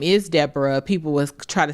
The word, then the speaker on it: Deborah: Uh because it's spelled My mom's name is Deborah. It's spelled D E B O R A H. And so sometimes people say Dborah.